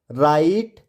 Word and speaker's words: right: तो आपको पता है GHT में आया GH हमेशा साइलेंट होता है। अगर आपको नहीं पता तो आप जी के उच्चारण से संबंधित वीडियो को देखिए, आपको क्लियर हो जाएगा कि GH को साइलेंट क्यों पढ़ा जाता है।